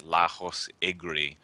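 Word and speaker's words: Lajos Egri: I do not want to pronounce his name. It's Lajos is his first name. It's Lajos Igri.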